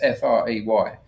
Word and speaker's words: Frey: I think in America they pronounce it Fry, but it's Frey. Years ago, about 30 years ago, he wrote a book called A Million Little Pieces.